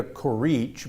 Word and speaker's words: Curici: look for her name, it's going to be spelled Curici with an I on the end of it, right? Right. Okay, but you don't pronounce the I.